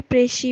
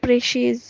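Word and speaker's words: précis: থাকে তাকে প্রেসি বলে প্রেসির প্লুরাল হলো প্রেসিস এটার স্পেলিং হয় পি আর ই সি আই এস এটা সিঙ্গুলার ফর্ম এটাকে প্রেসি বলে আর আমরা যখন প্লুরাল বলবো তখন এটা প্রেসিস উচ্চারণ করবো সেম স্পেলিং হয় হোয়াই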